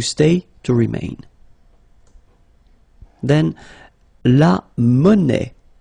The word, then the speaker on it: monnaie: Then, la monnaie. Monnaie, okay, final not pronounced.